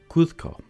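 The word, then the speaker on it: Cusco: tial or Kito kco to pronounce kco kusco and the correct answer is kusco been there who was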